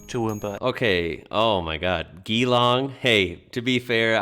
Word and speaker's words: Geelong: Geelong. Hey, to be fair, I pronounced that wrong a lot too, but it's definitely Geelong.